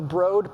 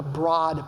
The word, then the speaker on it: Broad: It's mispronounced. It should not be the Broad Plan. It's got to be the Broad Plan. As in a broad investment in a very large number of charter schools.